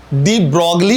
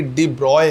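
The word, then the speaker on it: de Broglie: आज तक डी ब्रॉगली बोलते आए हूं, पर एक्चुअल इनके नाम का प्रोनाउंसिएशन डी ब्रॉगली नहीं है बल्कि डी ब्रॉय है, राइट?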